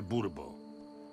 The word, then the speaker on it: Bourbon: Niech będzie, panie Messie de Bourbon. Akcent kładzie się na ostatnią sylabę. Bourbon.